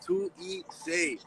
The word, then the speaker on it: 2ESAE: For everyone who don't know how to say it, it's Tu Ise.